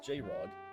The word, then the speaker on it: JR0G: JR0G, pronounced J-Rod, was a side channel entirely unrelated to Rod